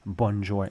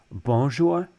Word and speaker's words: bonjour: n Sound at all so we don't say bour um like I've heard some English speakers say bonjour it's that's that's not how we say it bour you might want to say bonjour that's better don't say the n Sound there's none at all so the the fact